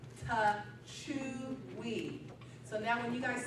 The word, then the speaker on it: Techuii: Iaso Techui, nobody knew how to say it, it is Techuii.